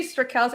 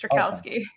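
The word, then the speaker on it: Straczynski: I say Strakalski. I mean, I know the actual Polish pronunciation, but we're very Americanized. It's Strakalski. Okay.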